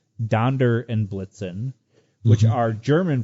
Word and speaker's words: Donder: the name Donder and my guests would be as most people were pronouncing it Donner and not Donder almost simply not crazy you know tis Donder right and it's interesting that